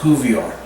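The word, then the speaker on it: courtbouillon: about 15 years old it's called a cuvion that's spelled c-o-u-v-i-l-l-i-o-n but it's pronounced cuvier and you make it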